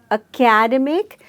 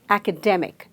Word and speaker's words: academic: A lot of us pronounce this word as academic, so we stress on the second syllable. But actually, it is academic and not academic. So, academic, there is a stress on the third syllable.